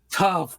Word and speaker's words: Toph: My name is Tough. It rhymes with Tough.